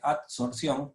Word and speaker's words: adsorción: Primero, una adsorción con D, adsorción, es difícil de pronunciar, se me traba la lengua.